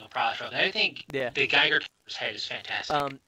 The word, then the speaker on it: Geiger: I think the Geiger's head is fantastic. It is pronounced Geiger. Yeah, Geiger. Geiger? Like Geiger counter.